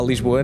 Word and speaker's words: Lisboa: Lisboa, not Lisbon. Yeah. Okay. No. Because Lisboa, it's Olá is Olá. Okay. It opens up. The A is openly pronounced, Olá, and Lisboa.